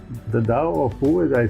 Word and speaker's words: Tao: Well, I mean, it's spelled T-A-O, Tao, but it is pronounced in Chinese, Tao, The Tao of Pooh.